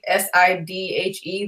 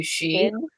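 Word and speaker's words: sidhe: Yeah, like that one, like the S-I-D-H-E that's pronounced like actually she. She yeah. I always said Sid. I always said Sid or City. Nope, she.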